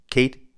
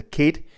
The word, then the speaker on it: Cead: I hope I am pronouncing Kate the right way. It is Irish.